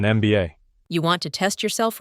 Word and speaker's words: MBA: A useful tip, an unusual situation, an MBA. Because MBA, when you say it letter by letter, starts with an EM sound, vowel sound. An MBA.